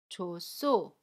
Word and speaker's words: 좋소: So, 좋소 is pronounced as , .